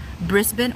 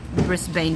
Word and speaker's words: Brisbane: is that right bris Brisbin or Brisbin collie said Brisbin or rivendale Brisbin zigzag _ elf the Bane on the end of bris Brisbane doesn't rhyme with Bane so brisb wrist Benin